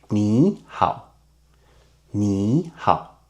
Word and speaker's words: 你好: So we keep the last third tone, change the other to second tone. So it will become second tone and third tone.